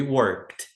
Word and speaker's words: worked: Work é trabalhar, acrescenta d trabalhamos. We worked sem pronunciar o e.